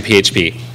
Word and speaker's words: PHP: PHP I know what you're thinking it it's pronounced FIP it's not I looked it up it's actually PHP so let's learn about PHP how can we